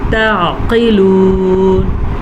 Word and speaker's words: تعقلون: افلا تعقلون. تعقلون. عین کے مخرج کا خیال رکھنا ہے اور قاف کو موٹا کر کے پڑھنا ہے.